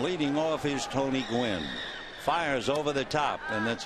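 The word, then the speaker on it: Fiers: will be Mike fires he spells it f i r s but it's pronounced fires this will be his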